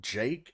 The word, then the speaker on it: JVKE: Today we are taking a little bit closer look at Moonboy from Jake, I think is how you pronounce his name. He writes it weird. He writes it JVKE.